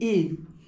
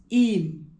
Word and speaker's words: Eyam: And what inspired me actually to come to the Peak District in Eam, as we call it, those of us from Derbyshire now, as I am, we call it Eam. But it's spelled Eyam, E-Y-A-M.